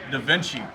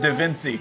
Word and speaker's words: DaVinci: We install Da Vinci. Da Vinci. He just changed it. He was pronouncing with how how were you saying it? Dainci.